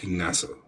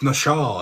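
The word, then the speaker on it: נָשָׁא: um in Hebrew and it's NASA. Like get the hell. Oh, but it's not it's not NASA. It's Nasha.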